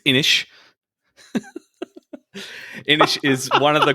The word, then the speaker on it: Inis: This one, I'm just going to say it out so no one mispronounces it too soon. It's Inish.